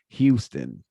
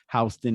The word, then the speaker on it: Houston Street: recognize houston street because you would probably pronounce it houston but we have old world um pronunciations for many words and i believe houston is an old world pronunciation for houston i believe from my